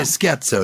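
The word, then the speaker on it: scherzo: have soprano we have shatzel I'm not sure if it's shatzel or sko actually sko I'd say sko in English very good so um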